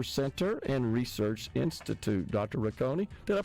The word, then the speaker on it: Rocconi: Rakonei, director Cancer Center and Research Institute. Dr. Rakonei, did I pronounce that correct?